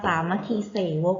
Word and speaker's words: สามัคคีเสวก: กัน 2 ตอน ค่ะ อ่าน ว่า บท เสภา สามัคคีเสวก นรก ไม่ ใช่ เส่า เอง นะ คะ นะ คะ เรื่อง